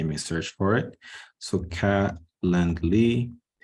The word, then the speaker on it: Calendly: to this website called Calendly. So I'll go through Google first so you guys can see me search for it. So Calendly, spelled like this. Okay, not calendar, calendly, DLY.